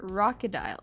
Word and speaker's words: Rockadile: Pronounce it Rockadile. Ah, Rockadile. Or Rocky or Rocky for sure.